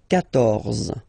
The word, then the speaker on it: quatorze: And here, quatorze. So remember Q and U here, well, basically you get to put this U vowel, because that's the rule in French, even if you don't pronounce it, okay? So you will get the sound K here, K, quatorze, quatorze, okay?